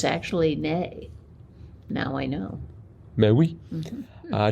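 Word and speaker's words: née: pronounce it yeah okay CU there is an A A over the first e so it should really be nay but oh okay well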